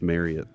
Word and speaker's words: Marriott: It's pronounced Marriott.